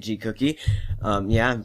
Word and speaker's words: Gcookie: Yeah, that's how you say it, Gcookie.